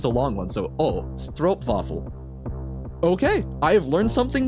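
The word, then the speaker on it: stroopwafel: don't know Dutch pronunciation I'm assuming that W's are a v sound like in German and double O is a long o sound right or oh I know don't pronounce the ooh like is like oh so it's stro stro vaffle is that or stro stro waffle or stro vaffle stro vaffle okay I did not know that because I assumed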